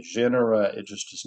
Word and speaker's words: genera: I have trouble with that word genera. Genera I I've never been able to pronounce it even when I was school in school and the teacher would say it. I could not say it back properly. So you may hear me say janera.